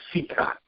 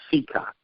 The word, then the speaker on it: Cicotte: His name was Cicotte. Was it really? Yes. I found many places where Eddie corrects people and says, my name is pronounced Cicotte.